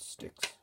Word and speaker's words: Styx: That's with the word sticks. Now that's actually a band, STYX. That's how it's spelt, but yeah, that's a band.